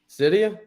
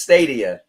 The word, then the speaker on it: Stadia: get a quick laugh say how do you pronounce it again his name is the cloud gaming platform Cydia yeah I heard it I heard it yeah when he said the other day no it's stadia a stadium oh look this is this is